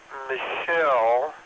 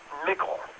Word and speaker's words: Mickle: Howard Michelle, I think it's how it's pronounced. No, Mickle. It's pronounced Mickle, rhymes with nickel.